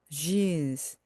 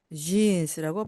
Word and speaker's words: jeans: 이때 입술을 앞으로 우 하고 내미시면서 jeans, jeans라고 발음하시면 좋겠습니다.